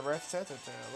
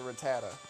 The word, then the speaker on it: Rattata: I know it's not pronounced like that, by the way. It's the way I like to do it. It's a Rattata, but... Rattata. That's that accent coming through for me.